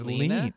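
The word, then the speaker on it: Leene: Rine. Line. Oh, is I believe it's lean. It's lean. Okay. In English, right? L-E-E-N-E.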